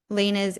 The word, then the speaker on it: Line: guys, I'll link um, Lena's Instagram and website in the description of this video, and her handle is the heart space line. Her name is Lena, but it's spelled Line.